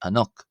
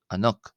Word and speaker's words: ⲁ̀ⲛⲟⲕ: It's not going to be pronounced an it's going to be pronounced ano. Ano ano ano ano.